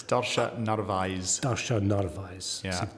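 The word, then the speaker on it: Darcia: pronouncing it perfectly in the it's NV eyes Dasha nise D let's just spell it out for people listening d a r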